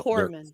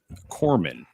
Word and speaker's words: corpsmen: I think the No, word you're Navy looking for is Corpsmen are the corpsman. medics. It's no. Corpsmen. Corpsmen. Corpsmen. Corpsmen, not corpsmen. I said it It's wrong.